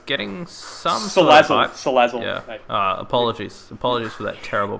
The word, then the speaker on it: Salazzle: You've just got to read it and you can see the correct pronunciation. It's just what got so much sizzle. I chucked a sizzle in there.